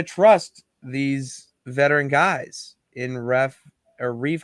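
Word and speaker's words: Reiff: You don't know the strategy coming out of New England, and we're gonna trust these veteran guys in Reef.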